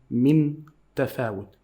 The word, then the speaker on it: من تفاوت: There is nothing on the noon. Why? They make it as a sign for you to know that we are not going to pronounce it a clear noon.